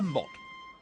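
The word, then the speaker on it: motte: on top of an artificial Hill called a Mot yes mot and Bailey isn't this program instructive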